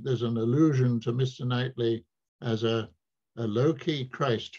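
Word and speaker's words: Knightley: and of course uh if you pronounce nightly you pronounce it with a silent k so n takes M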